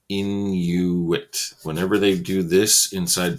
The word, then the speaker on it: Inuit: known as the Inuit you say in you wit whenever they do this